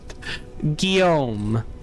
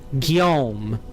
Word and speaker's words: Guillaume: Guillaume. Guillaume.